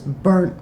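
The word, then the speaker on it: Bernt: was the case of state of Utah versus Burnt Murphy. And I that's the way it uh it's pronounced B E R N T M Murphy.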